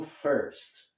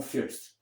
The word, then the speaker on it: first: Aqui, para começar, se pronuncia como first, não como first. Né? Do jeito que ele pronunciou, pareceu mais com fist.